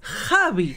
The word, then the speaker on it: Xavi: A chavi qué que no se dice chavi se dice Javi nos mataron en comentarios con eso para para es que se enojaron y en España Xavi con x es chavi como el del Barsa chavi se ve que